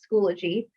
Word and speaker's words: Schoology: heard a lot of schoology but it is pronounced schoology so welcome to the admin training for schoology